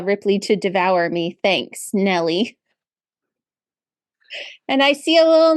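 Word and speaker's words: Gnelly: thank you you're welcome that's Nelly spelled with a G you know like gnome because she's a gnome yeah gelli I made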